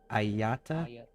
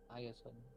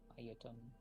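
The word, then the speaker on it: Ayatan: Ayata? Ayaton. So it's like Aya, then ton. Ayaton.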